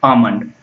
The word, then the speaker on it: almond: L is silent, so pronounce it as a almond.